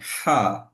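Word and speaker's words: حاء: হা এর উচ্চারণটা একটু আপনার আমার কাছে শুনবেন, আমি হাটা কিভাবে উচ্চারণ করছি। হা, হা, হা। কি হচ্ছে, আমার যে গলা, তো আমি আবার বলছি, আমি উচ্চারণটা কিভাবে করছি একটু দেখবেন। হা, হা। এই যে আমি হাটা উচ্চারণ করছি ঠিক গলার মাঝে, মাঝ থেকে বাতাস বেরোচ্ছে এবং কিছুটা শ্বাস বেরোচ্ছে, বাতাসটা বের হয়ে যাচ্ছে।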